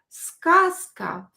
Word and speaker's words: сказка: I pronounce z here as s because it is located near unvoiced ka. It will become unvoiced too. It will be diseased from this ka letter.